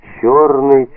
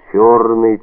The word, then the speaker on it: чёрный: по щекам королевича когда Он произносил слово чёрный не через ё а через о чёрный чёрный чёрной Хотя это о было как бы развле Чите тягучим ё чёрный чёрный чёрный что